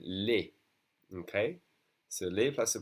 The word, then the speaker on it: les: We have a bunch of two-letter words, and the E in second position is going to be pronounced E, as in le. But when there's an S, it's always going to be pronounced E, as in les.